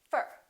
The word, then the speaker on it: for: what happens to four we reduce the oh and it becomes up fer repeat after me for